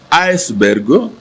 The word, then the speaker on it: iceberg: avions présenté ce jour-là il s'agit du nom iceberg qui se prononce aussi as bergo iceberg selon le dictionnaire du